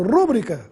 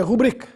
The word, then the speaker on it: rubrica: a essa última palavra tome cuidado com a sua pronúncia pois já ouvi muita gente falando rúbrica por aí a palavra é rubrica tem a sílaba i na sílaba bri portanto é uma paroxítona e sem acento gráfico Também nada de p